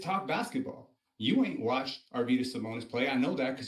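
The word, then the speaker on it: Arvydas Sabonis: basketball you ain't watched arvus simonis play I know that because you can't even pronounce the man's name arenus you Mar Venus like 25 times bro I ever when did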